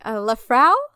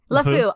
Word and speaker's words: LeFou: But I really did not like Lafrau. How do you say his fucking name? LeFou.